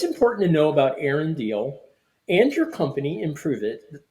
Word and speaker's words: Diehl: if you ever wonder how to pronounce my last name it is deal but my dog's name